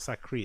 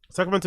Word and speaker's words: Sacramento: It's not Sacri. It's Sacra. So what the fuck has he got to do with Sacramento? He went to the California Nets Kings game. Sacramento is north, so he's not from Sacramento at all.